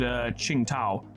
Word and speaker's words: Qingtao: So for instance, this friend here would actually be called Qingtao, because the Q is pronounced as cha.